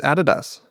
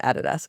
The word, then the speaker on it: Adidas: I think it's Adidas. Oh, yeah. It's definitely Adidas. But so Americans say Adidas.